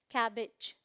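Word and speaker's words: cabbage: ऐसे देखेंगे तो लगेगा कैबेज बोलते हैं, बट प्रोनाउंसिएशन क्या है? कैबेज। कैबेज, ई साउंड आएगा।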